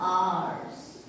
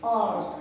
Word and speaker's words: hours: लिखा जा रहा है, लेकिन अगर हम बात करते हैं इसको प्रोनाउंसिएट करने की, इसको साउंड करने की, तो हम कहते हैं आर्स। क्या कहते हैं? आर्स कहते हैं।